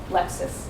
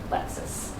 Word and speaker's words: Lexis: everyday spoken english and we would not pronounce lexis as if it were lexus although our colleague takes